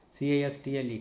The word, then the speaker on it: castle: CASTLE, castle, CHRISTMAS, Christmas.